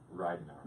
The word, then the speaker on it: Ridenhour: off the air about, but it's Ridenhour. Is that correct? Ridenhour.